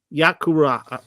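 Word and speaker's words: Vayikra: We're starting Leviticus, and can you pronounce the name in Hebrew for us, Pamela? I can. It's QURA. Sounds pretty- QURA. Yakuraa.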